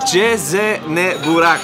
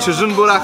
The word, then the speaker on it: CznBurak: Ich habe übrigens erfahren, ich habe es immer falsch ausgesprochen. Jezene Burak. Freunde, nicht Çıjın Burak, sondern Jezene Burak.